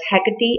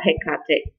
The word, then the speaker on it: Hecate: to mind is the goddess Hecate or hey Kartik depending on how you choose to pronounce her name she is associated with